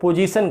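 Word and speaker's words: position: पोजीशन को हम लोग पोजीशन कहते हैं, पो नहीं प। जीसन, जीसन में भी यह नुक्ता आए तालव्य स पोजीशन, जेड जैसा उच्चारण होगा ऐसा ही का पोजीशन।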